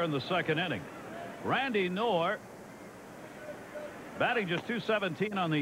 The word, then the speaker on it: Knorr: K-N-O-R-R. Knorr. Knorr. Steve Berger, is that the pronunciation on his name now? K-N? I think that's correct. That's correct. Yes.